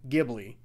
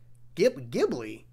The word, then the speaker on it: Ghibli: hard studio ghibli oh so it's a hard g so i've been saying